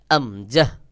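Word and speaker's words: همزة: এরপরে আমজাহ, আমজাহ, আমজার মূলত আ উচ্চারণ হয়, স্বাভাবিকভাবে মুখ খুলে উচ্চারণ করতে হবে। যেমন আমজাহ, আমজাহ।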